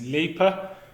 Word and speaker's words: Leaper: Today we have James Leaper. Is that how you pronounce his name?